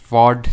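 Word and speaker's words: fjord: Ridges और horns, glacial valleys, troughs, hanging valleys, फॉर्ड या फिर चॉट, जो भी आप बोलो। फ्यॉर्ड वो ऐसे तो बोला जाता है, इसको प्रोनाउंस किया जाता है, बट प्रोनाउंस करने के लिए थोड़ी ना आएगा।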